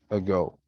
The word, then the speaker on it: ago: Unstressed syllables. Unstressed, reduced to schwa or they're short, not loud, and low. Example, ago, ago.